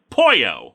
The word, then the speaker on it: Poyo: character who's a chicken it's pronounced the same way but spell differently with a y instead of two l's like you gotcha wait